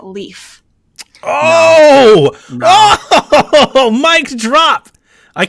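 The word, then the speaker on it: Leif: chewy plays Nintendo that a certain character is pronounced leaf oh oh mic drop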